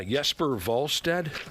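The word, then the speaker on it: Jesper Wallstedt: Yesper Volstead. You notice that I've changed my pronunciation.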